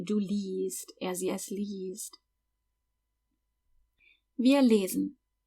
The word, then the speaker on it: liest: By the way, that I-E in liest is pronounced like a long E. Du liest.